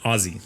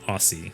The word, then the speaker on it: Aussie: draft chat somewhere like please pronounce it ozzy like ozzy osbourne not aussie like uh an australian shepherd or i don't know